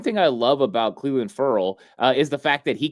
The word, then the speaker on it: Ferrell: that we discovered that he pronounces it Furl, Cleveland, Furl. And so, I don't care how you say it, if it's Ferrell, Furl, whatever.